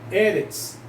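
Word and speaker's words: אֶרֶץ: Então vai ser Eretz, nunca vai ser Eretz, vai ser Eretz. A tônica vai ser na primeira, tá?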